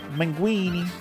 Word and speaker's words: Minguini: I didn't even explain, but this guy's called a mingi. Minguini. A minguini. Almost rhymes with linguini.